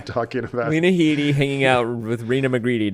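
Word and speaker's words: Headey: Uh I believe she pronounces her name Lena Heiti. Lena. Okay. Yeah. Um but I have always referred to her as Lena Hedi or Lena Heiti or L uh it's Lena Heiti.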